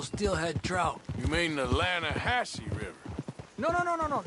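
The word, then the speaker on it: Lannahechee: the other day i rode down to the lana hatchy river i caught some beautiful steelhead trout you mean the lanahashi river no no no no no the the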